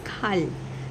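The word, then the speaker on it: 칼: सो जब पाची में रियल रहता है तो उसका साउंड क्या रहेगा? ल रहेगा। राइट? सो दिस बिकम्स खाल।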